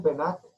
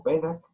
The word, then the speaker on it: Pennac: Daniel Pennac, o Pennac, depende de la pronunciación que se le quiera dar, en su libro, que fue un bestseller en una época, ¿no?